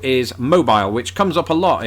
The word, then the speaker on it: Mobile: Unless you're down in Alabama where there's a city spelt exactly the same way, pronounced Mobile, and that Mobile, is why Alabama.